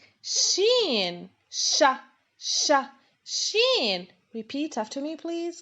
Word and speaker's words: ش: and now we move on to how to pronounce this letter shin sha repeat after me please guys shin represents